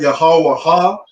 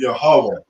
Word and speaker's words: Yahweh: So it's not Yahweh Ha. The Wa and the Ha connect, so we pronounce it Yahweh.